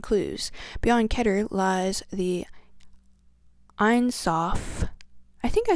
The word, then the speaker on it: Ein: The Zohar actually describes this light as vast nothingness, which is Ein, pronounced Ain, spelled A-I-N.